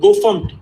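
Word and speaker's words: gofmt: The first one pronounced as FUMT, Go FUMT, that is formatting.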